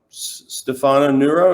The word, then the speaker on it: Stefano Nurra: really important in in the swimming world um stefano neuro is that is that how you say his